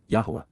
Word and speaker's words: Yahowah: and serving with yahwah yahwah the proper pronunciation of the name of eloah God as directed in his